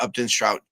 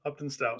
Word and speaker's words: Upton Stout: It's not Strout, it's Stout.